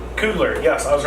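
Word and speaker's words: Coogler: In the movie had all the I I always mispronounced his name. Cougler.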